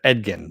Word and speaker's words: Edgin: you say his name uh Chris Pine's character edgin there we go edgkin and holga so holgas